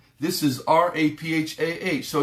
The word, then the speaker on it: Rophe: In the midst, Jehovah, R-O-P-H-E, this is R-A-P-H-A-H. So it's real close. It's pronounced very close to the same. Rapha, Rophe.